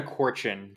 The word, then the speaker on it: Korchin: glad to be here it's Corin just FY it's okay don't worry about it but that's how you say my last name got it got it